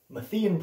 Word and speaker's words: Matthean: mathen priority sometimes pronounced methane priority is the view that